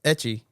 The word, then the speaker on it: 3CCH1: Etchie.